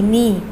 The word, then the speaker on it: knee: KNEE, knee. Should be pronounced as knee, children.